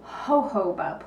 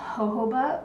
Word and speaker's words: jojoba: talk about is a jojoba plant okay it's spelled a little differently than you might think it's a j-o-j-o-b-a and the waxes and